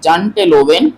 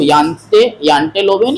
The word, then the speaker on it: Janteloven: वो भले ही आपको इंग्लिश में लगे कि यहाँ पे लिखा हुआ है जानटे लोवेन, ठीक है, ये लिखा हुआ है, पर इसका जो प्रोनाउंसिएशन है नॉर्वे के भाषाओं में उसमें यह है कि इसको यांटे लोवेन या यांटे लोवेन कहते हैं, ठीक है।